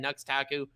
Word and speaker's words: Nux Taku: Brigo, and Nux Taku, where the X is silent.